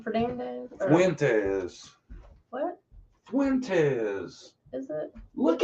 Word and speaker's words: Fuentes: Her name is Jolissa, and her last name is, how do you pronounce her last name? Fernandez? Fuentes.